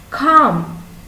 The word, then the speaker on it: calm: silent w next one calm calm calm has a silent l next one knife knife